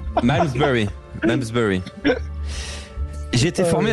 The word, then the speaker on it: Malmesbury: Déjà c'est mal prononcé. Malmesbury.